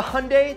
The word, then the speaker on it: Hyundai: undervalued coupe from Korea the hyundai that rhymes with sunday genesis coupe this korean